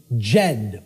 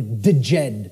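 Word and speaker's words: Djed: was known as the the Jed or the deed pillars depending on how certain people pronounce it and these Jed pillars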